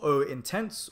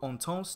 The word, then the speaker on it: Eau Intense: and this one is called Oh intense or on toss depending on how you want to pronounce it in French or English and it's called vetiver